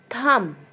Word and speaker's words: thumb: Thumb. Not thumb. B is silent.